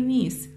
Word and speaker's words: knees: cat sitting on my knees knees يعني ركبتين ني ركبة بلا اس ني ركبة knees ركبتين الكي هنا بالركبتين كلمة ركبتين ما تلفظ الكي هنا silent يسموها knees بس نقرأ من